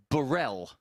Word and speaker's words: Burrell: But his name is pronounced Burrell. And it didn't have an E on the end.